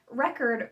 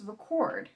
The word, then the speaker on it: record: For instance, whether you stress the first or second syllable can determine the meaning of record versus record.